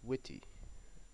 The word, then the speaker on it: Wt: it's called is witty it's spelled WT but it's pronounced as witty like this WT um